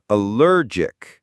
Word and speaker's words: allergic: It's not allergic, it's allergic. The stress is on that middle syllable. That soft G sound is like the J in the name John.